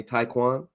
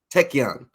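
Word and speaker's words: Taekkyeon: Is there any kind of upper limits, I guess, of can you pronounce it again for me? Taekwon? Taekyon.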